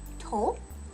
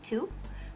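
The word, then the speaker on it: と: tempting to pronounce it too but it's tol like someone's toe right it's not quite such a flat vowel at the end hope what sound do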